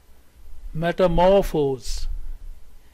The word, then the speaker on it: metamorphose: more forcefully metamorphic metamorphic next word is metamorphose metamorphose here we have primary stress here and second stress is in the beginning so this part will be given stress metamorphose metamorphose this is all for